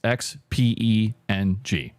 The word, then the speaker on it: Xpeng: That's how it's pronounced. Xpeng.